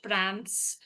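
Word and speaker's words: params: Then next here you can see uh P A R A MS dot how you pronounce it prams we can say it like that uh pram.fast q then prams.qc report.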